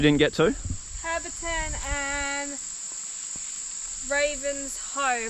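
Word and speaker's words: Ravenshoe: Herberton and Ravens Hoe. Apparently you say it like that. I was saying it Ravens Shoe, but...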